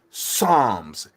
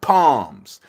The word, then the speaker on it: Psalms: said everybody knows that the p on the front of psalms is silent it's psalms it's not palms any real christian or